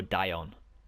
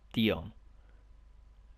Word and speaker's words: Dion: insurance companies and stuff they go die on it's like Dion it's about here with an